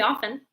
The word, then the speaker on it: often: it just depends like if I were speaking quickly with my friends I wouldn't say the T not very often often but I'm trying